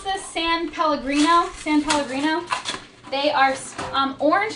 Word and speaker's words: San Pellegrino: And then these are, how do you pronounce this? San Pellegrino.